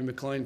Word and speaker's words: McLean: You know, there's a couple of Tobys playing on Friday night if Toby McLean plays, and it does rhyme with green, doesn't it?